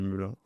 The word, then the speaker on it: Melun: Pour ceux qui savent pas comment ça se prononce, on dit Melun.